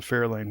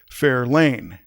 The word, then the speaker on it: Fair Lane: But I'm pretty sure that the Fairlane was named after Fair Lane. And you'll notice my different inflection. I'm accenting a different syllable as I say Fair Lane.